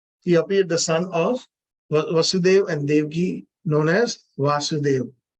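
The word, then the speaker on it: Vāsudeva: we make little mistakes the son of vasudev is vasudev it's ah that is that is how it is it is pronounced and like for example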